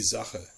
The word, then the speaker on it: Sache: The most complicated is actually the letter S. It is pronounced like a voiced sibilant, the Z sound, if it is followed by a vowel.